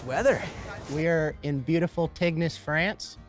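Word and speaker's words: Tignes: we are in beautiful tygnus france i don't know why they pronounce it teens because it's got a g in front of an n cheers to teams boys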